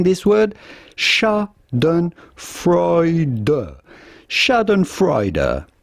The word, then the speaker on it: Schadenfreude: particular isn't it how do you go about pronouncing this word Shaden freuder Shaden freuder shad and freuder so there you go shad and frea is